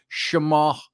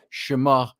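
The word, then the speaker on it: shemagh: hence I'm wearing my schmug as they call it her Shema if you want to pronounce the GH silently Shema or it's my shimog uh my my scarf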